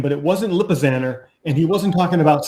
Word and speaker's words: Lipizzaner: he was saying it the thing is he was saying it wrong it's it is i don't i don't remember how he was saying it but it's lipizzaner it's like a little banner stallion scheme lipizzaner wait